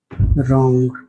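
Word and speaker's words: wrong: यदि डब्लू के बाद आर लिखा हो तो डब्लू साइलेंट रहता है। For example W आर ओ एन जी रॉन्ग डब्ल्यू आर आई टी E right यहां डब्ल्यू के बाद आर लिखा है इसीलिए डब्ल्यू साइलेंट है। इसे रॉन्ग पढ़ा गया।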